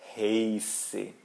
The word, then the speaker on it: heiße: E, I em alemão a gente pronuncia ei. Tá? Sempre, sim, sempre. Então, por isso eu não digo heiße, eu digo heiße, heiße.